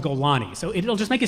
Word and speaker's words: Golani: There's no Golan Brigade, it's called Golani.